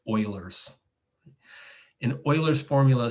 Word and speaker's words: Euler: useful one it's called euler's formula don't ever pronounce it euler's uh you'll reveal to people that you're a newbie it's euler's in euler's formula says e to the ikx